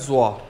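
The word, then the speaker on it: 坐: लिए हमारे पास word use हो होता है जवा जड यू ओ जवा ठीक है इसकी एग्जांपल्स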